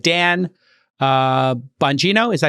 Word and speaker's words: Bongino: And these included people like Dan Bongino, is that how you pronounce it?